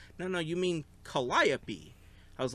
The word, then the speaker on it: Calliope: They're like, no, you mean Calliope. I was like, what? They're like, yeah, that's how you pronounce it. It's Calliope.